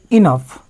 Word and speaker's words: enough: प्रोनाउंसिएशनटा टी अलग रही ENOUGH इटा के आम इनफ बोलिक पढ़सुँ इनफ है एफ रे फोर्स पढ़वा इनफ है इथिरे जेन ओ यूटा है और GH के फ पढ़ा जाऊे और ओ यूटा साइलेंट अच्छी इनफ ठीक अच्छे तो ये